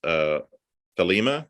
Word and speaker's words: Thelema: by Aleister Crowley and heavily influenced by his Thelema. Did I pronounce that?